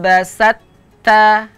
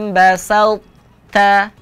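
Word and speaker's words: بسطت: basta laim basta ya cara membacanya tidak boleh dibaca laim basatta basat ta langsung ke huruf ta ya ini contoh bacaan yang keliru Bagaimana yang benar huruf tho tetap dibaca laim basta bas ta huruf tho masih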